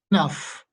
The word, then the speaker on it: enough: like this one, okay, how is that GH there pronounced? Enough, right? Enough.